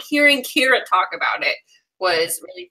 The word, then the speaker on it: Kyra: I was so heartbroken for Kyra, like the entire time, because even I think it's pronounced Kira.